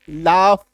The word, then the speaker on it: laugh: ठीक है, तो जीएच जब एक साथ आता है किसी शब्द के लास्ट में, तो इसका उच्चारण जो है आई हो जाता है, फ हो जाता है।